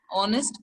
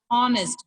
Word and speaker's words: honest: We are not supposed to pronounce it as honest. Honest is wrong. It's honest. Honest. So honest means we are getting vowel sound.